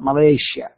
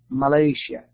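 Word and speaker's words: Malaysia: انتبه ماليزيا تنطق ماليزيا ماليزيا كأنها شاء زي آسيا نقول آسيا. Our objective هدفنا for the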